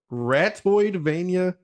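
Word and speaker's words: Ratoidvania: it was ratio but it's actually rat toyed like metroidvania but rat uh the rats are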